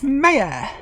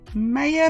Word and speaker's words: Meja: Sabikat, it's Meja. That's how you say my name. Meja, Meja, Meja, Meja, Meja.